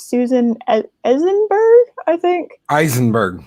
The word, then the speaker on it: Eisenberg: It's Susan Eisenberg, I think. Eisenberg. Eisenberg, yes. Like Heisenberg.